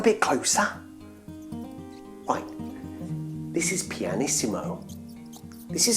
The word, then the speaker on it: pianissimo: come on a bit closer why this is pianissimo this is how her name's spelt do you think you can say her name after me pianissimo very good now if we're gonna write